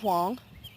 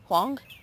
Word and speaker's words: Huang: 10 or 11 uh his name is Andrew Wong that's Andrew and then his last name is spelled I think it's h u a n g Wong he is just beautiful